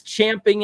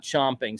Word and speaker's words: champing: righty pop fire is champing at the bit and yeah that's how you say it it's champing not chomping so let's get this